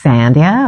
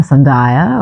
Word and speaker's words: Sandhya: it's so hard, but the Hindi script that is the letter that creates the D sound, the D sound is really difficult for people to pronounce if you weren't born to the language.